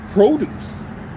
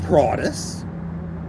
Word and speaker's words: produce: I'm sorry, but it's pronounced produce at the grocery store. It isn't pronounced produce.